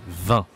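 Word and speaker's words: vingt: C'est la même prononciation, d'accord? V-I-N-G-T, 20. V-I-N, le vin, la boisson, d'accord?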